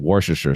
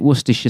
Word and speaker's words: Worcestershire: mind blown so like places in over there that end in shire you don't ever pronounce shadows if that if